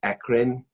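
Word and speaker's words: eccrine: those fairly quickly first major type e-c-c-r-i-n-e it's pronounced akrin akron sweat glands are first their merocrine and function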